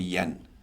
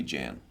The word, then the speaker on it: Jan: my cultural background because my family in Denmark where my parents come from they call me yen mhm here in Canada almost everybody calls me Jan right including my parents